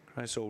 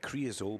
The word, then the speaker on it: Cryosol: Scott Carson, Cryosol Racing. I was calling it Creosol, but that's a little bit like King Creosol, it's spelt differently, Duncan, so you just